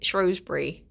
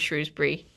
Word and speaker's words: Shrewsbury: Well, people tend to pronounce it Shrosbury um instead of Shrewsbury, but I did genuinely